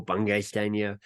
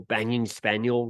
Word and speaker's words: Bungay Stanier: standier I became Michael bungay stania bungay Stan is my surname there's no hyphen people get weirded out on how to pronounce it it's like a good letter ones to Michael banging spaniel yeah so like people